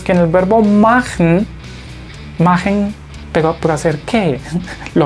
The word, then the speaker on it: machen: de más trabajo Por qué Porque este verbo magen y no vayan a decir machen Recuerden que la pronunciación es mn si quieren saber cómo se